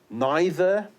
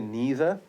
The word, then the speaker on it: neither: So you've got neither, or you can say neither.